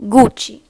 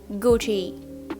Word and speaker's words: Gucci: brands because i do not like when people mispronounce our brands gucci not like gucci gucci then we have not versace but versace